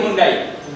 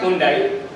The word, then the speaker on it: Hyundai: So in India they started calling Hundai. You know that right? So in India they call it Hundai.